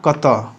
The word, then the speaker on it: कत: पे आते हैं अहा कत ठीक है प्रोनंसिएशन पे ध्यान दीजिएगा कत यह जो ड की तरह लग रहा है यह ऐसे इसका अ का उच्चारण होता है तो अहा कत स